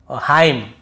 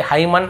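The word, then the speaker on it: hymn: एन को नहीं पढ़ना जैसे ऑटम कॉलम डैम हाइम तो यहां पे हमें ऐसे ऑटम कॉलमन डैमन ऐसे हाइमन ऐसे नहीं पढ़ना है ठीक है क्लियर हो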